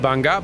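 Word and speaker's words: Bangaa: in your search for the missing lizard it's pronounced banga but okay damn it brother where are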